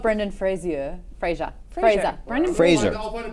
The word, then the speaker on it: Fraser: It's like when I correct people, it's Brendan Fraser, not Frazier.